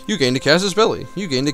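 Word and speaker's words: casus belli: of course there are people in the comments saying like it's quesas belli why do you pronounce it that way to which I say yeah you're probably right Kellan can we not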